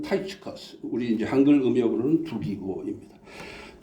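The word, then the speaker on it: Tychicus: 보면 두기고는 인물이 등장하는데 영어로 발음할 때는 발음이 완전히 달라요 타이커스 발음합니다 영어로는 타이커스 우리 이제 한글 음력으로는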